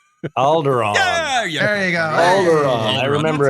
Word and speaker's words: Alderaan: uh no no no it rhymes with balgaron alderaan there you go i